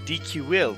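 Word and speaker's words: Dicuil: by the irish monk dq will that's how you pronounce it according to the danish pronunciation so we'll go with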